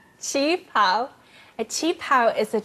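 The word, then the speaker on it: qipao: How do you say that word again? Chinga pao? Chi pao.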